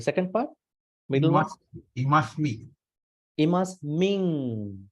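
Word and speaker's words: imasmiṃ: Imasming. There's a nasal sound. Imasming.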